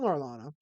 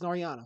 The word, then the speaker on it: Noriana: Hello, Norlana. Good. Good. Seeing you there. Is it Norlana or Norana? I think it's Norlana. Or is it Norana? I don't know. Norana. Okay, it's Noriana.